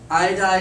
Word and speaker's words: iodide: like in this case iodine is one of those little weird exceptions you actually do two syllables aiyo aiyo so otherwise it's normally like fluoride bromide phosphide nitride iodide as one that has two and selenite is one